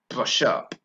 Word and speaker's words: brush up: also a link there did you hear that - sounds the end of the last syllable in the first word and the second word that sounds linked together and the stress is on the second syllable okay sirs brush up